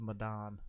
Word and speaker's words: Medan: Man of Medan.